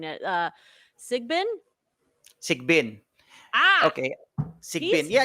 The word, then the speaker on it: Sigbin: Which, by the way, the demon, please correct me if I'm mispronouncing it. Sigbin? Sigbin.